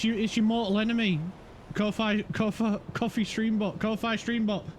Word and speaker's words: Ko-Fi: Ko-Fi streambot. Ko-Fi streambot. I didn't say coffee, I said Ko-Fi, I swear.